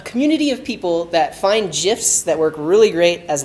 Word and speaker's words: GIF: So I'm going to put that GIF with a hard G on the page.